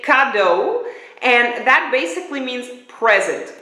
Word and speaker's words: cadeau: says present this is Godot that's how you pronounce it inductor so we all learned a little bit Dutch but you say cadeau and that basically means present cadeau um but